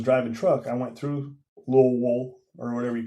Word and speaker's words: Louisville: Louisville and Lowell. Yeah, you gotta say it like you got a mouthful of marbles.